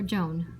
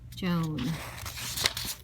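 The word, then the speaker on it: jaune: pronounced it june or joan like her name um dinkus josh said what's this got to do with anything don't you see guys dink said the french word for yellow sounds just like joan that's sammy's tutor's name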